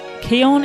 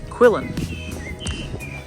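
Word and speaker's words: Quillan: our campsite at Keon we were Aussies we would pronounce it quillin pretty sure it's Keon just zoom in so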